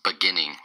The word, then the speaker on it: beginning: Today's word of the day is beginning. Beginning. Beginning. Beginning. It's three syllables, and the stress is on the second syllable.